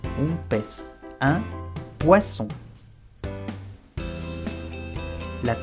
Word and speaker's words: poisson: Y finalmente, la doble S siempre se pronuncia como S, S. Por ejemplo, un poisson, un pez. Un poisson.